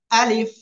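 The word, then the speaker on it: ا: উচ্চারণ করবো ঠিক আছে এই আলিফ অক্ষরে কয় আলিফ টান হবে জানেন কোন টান হবে না কি হবে না কোন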